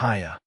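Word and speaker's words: Haigha: His name is Hiya. He pronounced it so as to rhyme with mayor.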